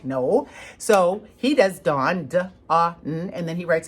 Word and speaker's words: Don: And his name was spelled D-O-N, and it was Dawn. Now, Dawn, to us in the United States, is a girl's name, right? Dawn is not how you pronounce D-O-N. However, they don't have the sound ah in their area. They don't even have that sound.